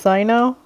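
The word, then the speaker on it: Cyno: the general mahamatra's Wrath okay so it's pronounced Sino all this time I've been wrong um also I did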